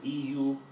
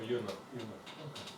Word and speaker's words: eunuch: a, I'm not sure how to pronounce it, it's spelled EUNUCH. In the olden days, it was popular for ministers of a king to be castrated. Oh, eunuch.